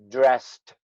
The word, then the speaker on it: dressed: Now, sometimes you might hear a little D in there. Dressed. Dressed. Nah, it's really more a T sound.